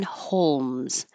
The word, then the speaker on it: Holmes: by itself Sherlock and the second one Holmes this L is a dark l so you don't have to make a perfect l in the front the middle of your tongue can just rise holes Holmes Sherlock Holmes you might hear a k when you Sherlock Holmes Holmes that's okay because you're releasing the air Sherlock Holmes hairy we